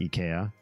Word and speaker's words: Ikea: say that I say Ikea in the US even though I speak Swedish and I know it should be pronounced EA because it rhymes with E and that was like